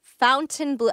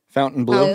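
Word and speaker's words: Fontainebleau: Bieber and Shaq at Fountain Blue how do you say that Fountain Fountain Blue Blue Fountain Blue oh you don't say it like in a French way I guess you could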